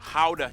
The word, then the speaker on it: Gouda: And the pride and joy of the nation, Gouda cheese. Yep, What? that's how you pronounce it, guys.